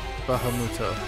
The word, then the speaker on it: Bahamut: doing pretty sure actually no it would be pronounced Bahamut which is yeah should just do that from